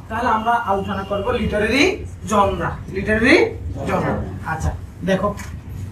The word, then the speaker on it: genre: Literary জনরা দেখো, GENRE, উচ্চারণ করছি কি, জনরা।